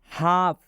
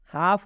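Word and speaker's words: half: मतलब होता है बछड़ा हाफ हाफ में भी एल के बाद एफ आ रहा है मतलब ये है कि इस एल का भी उच्चार नहीं करना है एल के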